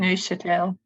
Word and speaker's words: Neuchâtel: Postdoctoral researcher in Switzerland, University of the Neuchâtel, or how to pronounce? And then Neuchâtel.